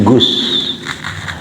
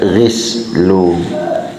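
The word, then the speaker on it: غسل: Kalaunya isnya bermaksud untuk mandi gus. Kalaunya bermaksud untuk membasuh gas. Nah bisa juga sebagian ada membaca gislu tuh. Cuma yang masyhurnya di kalangan ulama fuqaha membacanya Gus.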